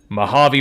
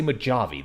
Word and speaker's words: Mojave: once again and the Mojave Wasteland was forever changed I was almost going to say maavi there but people don't like it when I say uh when I pronounce things wrong you an old dude